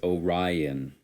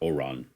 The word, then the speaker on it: Orion: oh yeah bun bunny it's Orion because you gotta say the I the eye is not silent it's not oron odd no that's how